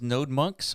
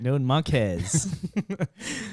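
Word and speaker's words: NodeMonkes: Yeah, do you guys pronounce this as node monks or node monkeys? Monkeys. That's how I do it. Node monkeys. I feel like it was intended. I'm certain that's not it.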